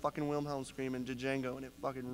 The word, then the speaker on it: Django: just call it Django the D is silent Cory the D that